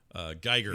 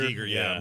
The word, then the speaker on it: Giger: By the way, I found out he pronounced his name Giger, which really annoyed me because I've never said it as Giger my whole life.